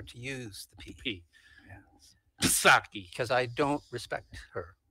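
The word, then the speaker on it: Psaki: and please no calls i know her name uh is has a silent p in it i just prefer to use the pp yes saki because i don't respect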